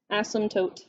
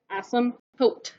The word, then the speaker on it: asymptote: just follow the asymptotes the p is silent asymptote nope nope asymptote one of my old